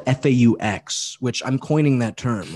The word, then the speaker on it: faux: But I would refer to myself as a furry, spelled F-A-U-X, which I'm coining that term, like a a fake furry, you know, like okay, faux.